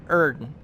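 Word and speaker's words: Oedon: Yes, that is how you pronounce that. Erden.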